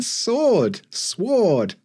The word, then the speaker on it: sword: Yeah, like, why is there a W in sword? Sword.